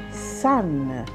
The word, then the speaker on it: sun: già e si dice sun sole sun si scrive s1 ma si pronuncia colla a sole sun baba